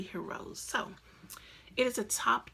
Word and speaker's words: Hirose: a-- OSE so I'm I almost want to say Hiro C but he rose I believe it is Midori he rose so it is a